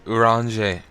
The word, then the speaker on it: Urianger: Urianger.